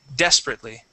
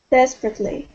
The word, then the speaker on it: desperately: to the word desperately so the stress is at the very beginning desperately desperately very good okay now